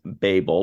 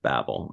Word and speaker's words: Babel: checked out the pronunciation the top pronunciation is Babel but for our purposes we're going with Babel I like the Techno